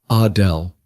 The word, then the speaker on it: Adele: She pronounced it the French way, Adele.